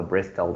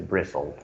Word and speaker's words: bristle: the t here guys t is silent sound okay so not the bristol it's a bristle bristle it's a reaction